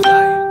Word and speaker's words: Zhiyun: It is the Zion Smooth 4.